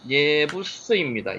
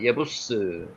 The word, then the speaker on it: 예부스: 여부스 족속은요 실제로 발음대로 읽으면은 예부스입니다. 예부스. 예부스.